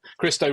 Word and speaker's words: Christo: Yeah, Christo rhymes with Bisto is what my children say.